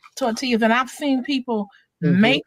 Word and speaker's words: tortillas: when he get his tortillas or tacos tortilla tortilla tortilla So, not tort the L, the double L is pronounced Y.